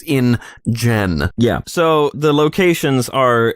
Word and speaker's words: InGen: we should point out, when we say InGen, we don't mean any offense. It's spelled I-N-G-E-N, it's the name of the company, it's not a slur, but it does sound like one.